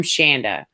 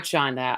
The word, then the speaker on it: Shanda: i'm doing well but you're saying my name wrong i think you've decided to change my name you have been having such a fun morning i'm shanda so for everyone i'm not shonda i will never be